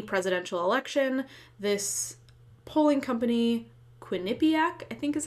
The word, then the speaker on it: Quinnipiac: Before the 2020 presidential election, this polling company, Quinnipiac, I think is how it's pronounced, did a poll of 1,500 likely voters, and they asked, who do you support for president?